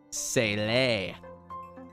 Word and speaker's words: Sealy: Sealy is pronounced Sele.